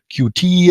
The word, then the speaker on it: Qt: with the issue of the pronunciation of Qt itself. So meeting a customer at a trade show, you would hear Q-T, and then after some time they picked up the internal Qt.